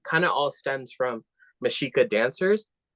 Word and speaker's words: Mexica: of all stems from mishika dancers if you spell out mishika which I spell it as m x IA but then